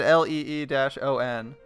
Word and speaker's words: Leon: I'll pronounce it Leon, because they even said Lee-on.